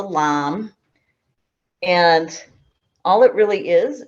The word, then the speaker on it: lame: dough whisk this is it's called a lamb it's spelled like lame but it's called a lamb and all it really